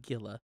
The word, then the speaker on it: Gila: But with the Gila Monster, we just kind of moved in. With the what? Oh, dang. Gotcha. With the Gila Monster. It's spelled Gila, but it's Gila. H-E-E-L-A.